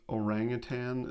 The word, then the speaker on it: orangutan: similar to when you realize that orangutan does not have a g at the end with anyone else's mind